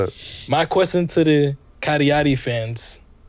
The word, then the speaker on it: Cagliari: But it got even worse when you realize that the club, how you pronounce it? Cagliari.